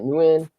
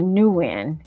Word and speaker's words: Nguyen: always want to say new N. I want to put that N there, but the N is silent, Kim. It's like win, right? Win Yeah, or when. win. So the N is Yeah, silent.